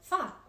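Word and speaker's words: 发: important in Chinese culture the number eight or ba is a lucky number because it sounds like the word fa which means Prosperity the number six symbolizes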